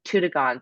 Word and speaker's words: Toodoggone: couple of months ago, an easy way to remember it is it's Toodoggone, so it's doggone far.